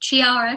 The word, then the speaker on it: Chiara: My name is pronounced like Kiara, but I love the way you pronounced it. Kiara, that's a beautiful name. Chiara, Kiara, sound.